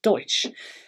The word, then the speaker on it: Doix: There's a lovely company called Mas Deutsch. Once you get into Catalunya, the pronunciation is difficult. It's spelt Doix, but that's Deutsch.